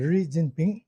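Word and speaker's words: Xi Jinping: சைனாவினுடைய premier அப்படின்னு சொல்லப்படுகிற சைனாவினுடைய அதிபர் ரிஜின்பிங் அது வந்து பேர வேற மாதிரி உச்சரிக்கிறாங்க. அது வந்து ரொம்ப கரெக்டா உச்சரிக்கணும்னா ரி ஜின் பிங் அப்படின்னுதான் சொல்லணும் அத.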